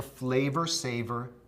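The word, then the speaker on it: Flavr Savr: It was called the flavor saver tomato. That's spelled F L A V R S A V R.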